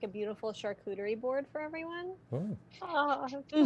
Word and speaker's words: charcuterie: And she just like starts slicing it off and making like a beautiful charcuterie board for everyone. Oh. Oh. Well done. That sounds yummy. Good pronunciation of charcuterie.